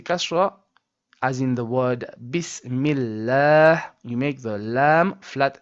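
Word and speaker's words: بسم الله: So, this ha comes from the bottom throat as we discussed in point number three.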